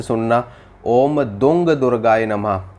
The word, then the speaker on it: दूं: ध्यान से सुनना ओम दंग दुर्गाय नमः इसमें जो दंग का उच्चारण किया गया है वह दुम नहीं है यह है दंग यानी कि अंगा अंगा का साउंड आपको बोलना है ओम दंग दुर्गाय नमः